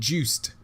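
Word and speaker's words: Juste: juice dude i just said that you said juiced he has a t in his name it's not pronounced oh is he haitian just like kevin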